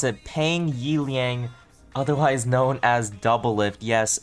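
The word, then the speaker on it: Peng Yiliang: account versing against none other than no cloud pronounce it pang yi liang otherwise known as doublelift yes this is the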